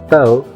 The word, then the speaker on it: tao: La palabra tao, que se pronuncia casi como se escribe, pero con un sonido suave de la t, le ha prestado su